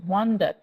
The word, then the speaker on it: wonder: এই কবিতাটি পড়ার সময় এটা কিন্তু অনেকেই ভুল করে, এটাকে বলে ওয়ান্ডার। এটা কিন্তু ওয়ান্ডার নয়, এটা হচ্ছে ওয়ান্ডার। ওয়ান্ডার, WONDER, তো উচ্চারণ হবে ওয়ান্ডার, ওয়ান্ডার।